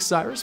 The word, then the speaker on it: Cyrus: It’s spelled like “Cyrus,” pronounced like “See Rooster,” just take out the “ter” Thank you very much for watching and have a wonderful day!